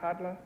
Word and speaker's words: Halla: you pronounce your name hadla it's it's spelled here h a a is that pronounced hadla that's correct in the Icelandic language a Double L is pronounced as if it were a DL ah a dear custom